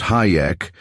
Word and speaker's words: Hajek: Fred Hajek too, pronounced Hayek and referred to flippantly among the student nurses as Hijack.